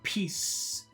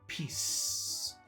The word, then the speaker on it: peace: So if you want to say peace, you spit out the air, and you also have to sound like a snake. Peace.